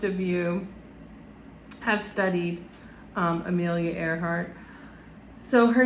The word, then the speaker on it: Earhart: It's spelt like Earhart, but it's like Amelia Earhart. And I pointed out that it's like Earhart, like air and then a heart, like I love air, and she was a pilot.